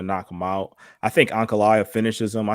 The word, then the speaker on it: Ankalaev: Magomed Ankalaev.